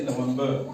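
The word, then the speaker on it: November: middle में इसलिए हमने इन दोनों लेटर्स को प्रोनाउंस करना है इनकी दोनों की आवाज निकालनी है ठीक है जैसे नवंबर क्या है एन ओ एम बी आर नवंबर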